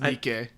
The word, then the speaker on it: Nike: Nike buy hopeful penguin it's pronounced Nike what ok ok ok let me do this Nike is the brand of the shoe Nikkei they took their name from the Roman goddess of victory whose name is Nikkei